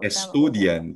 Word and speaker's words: estudian: student po ba opo estudian ba nagtatapos sa n at s at vowel sa second to the last ang stress estudian opo estudian hindi siya estudian Studian Studian Y